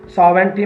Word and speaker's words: sovereignty: Different words करते हैं, strength ताकत, courage हौसला हिम्मत, सेफगार्ड हिफाजत के लिए, इंटरेस्ट मफाद, नेशन कहते हैं कौम को, सॉवेरेंटी में जी साइलेंट है, सॉवेरेंटी सालमियत, इंटीग्रिटी बका,